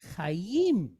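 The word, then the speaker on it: חיים: So we pronounce this second as yim. You got that, sis? Okay, cool. So the word is chayim.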